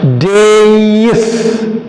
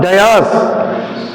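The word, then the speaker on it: dais: people stand this one the pronunciation is wrong the word is correct d a i days what is it days not Das days a raised platform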